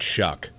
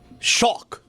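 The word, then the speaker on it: Shough: How do you pronounce that, Shuck? I don't get it. Shock. Doesn't look like Shuck. It should be Shaw. Shock. Tyler Shock.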